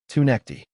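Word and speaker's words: Tounekti: Sebastian Teneecti, or as we now officially know how to pronounce it, Tuni.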